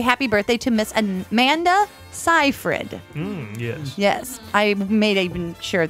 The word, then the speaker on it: Seyfried: birthday to Miss Amanda Seyfried. Yes. I made even sure that I said it right. That everybody just they always say wrong, but it's Seyfried. They even said that on IMDb.